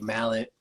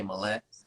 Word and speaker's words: Mallett: on that is like my dad and my granddad say mallet my grandma and my mom say millet so i asked my